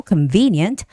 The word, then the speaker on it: convenient: confused with the stresses were convenient the stress comes on the second syllable convenient and transportation I always tell